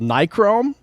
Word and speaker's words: Nichrome: with you on twitter anyway this one's called nichrome do you think i said it right yeah